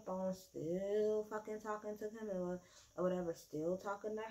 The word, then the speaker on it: Camilla: Is it Camille or Camilla? Because I'm going to make sure I'm saying it right. Yeah, it's Camilla.